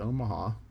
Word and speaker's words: Omaha: live and you know if you live uno maha you get upset if people don't call it omaha so dubois town nearby